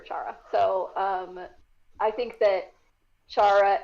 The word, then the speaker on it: Chara: I know that makes more sense to pronounce it that way, but I prefer Chara.